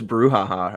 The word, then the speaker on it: brouhaha: brouhaha that's why I like yeah after this brouhaha uh I also know how to spell it which is exciting too spell it b-r-o-u-h-a-h-a